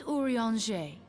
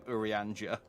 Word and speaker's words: Urianger: whenever you have questions I would not have guessed that's how you pronounce I would have called them I would have called him urianger even the darkest night